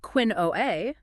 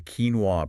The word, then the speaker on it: quinoa: No, it demands a quinoa pronunciation. It resists that natural English impulse to turn key into quinn or qua. Mastering this requires you to accept a sound that is wholly external to typical English phonetics, giving that short e sound on the first syllable.